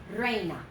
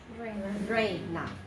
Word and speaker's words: reina: And 2 syllables starting with the rolled R if you can. Syllable, syllable. Reina. Reina. Reina.